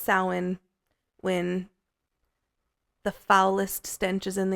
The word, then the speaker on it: Samhain: Samhain is spelled Samhain, so it looks like Samhain if you ever see that, but it is pronounced Samhain.